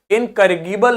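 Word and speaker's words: incorrigible: जे है यहां पे जी को गी नहीं, गा नहीं पढ़ेंगे, इनकरेजिबल नहीं होगा, क्या होगा, जे लिखा है मतलब इनकरेजिबल, ठीक है।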